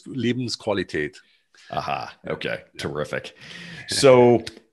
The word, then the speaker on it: Lebensqualität: Life is Leben, Qualität is quality. Yeah, Lebensqualität. It's like Farfignugen. Okay, perfect. Remember that? Farfignugen? Yes. Yes. Thank you. Thank you. I'm looking at it in the book and I'm like, I'm not going to be able to pronounce this. So yeah, it's a typo, unfortunately. There's a typo, unfortunately. There's an E on the end, unfortunately, but there's absolutely no E.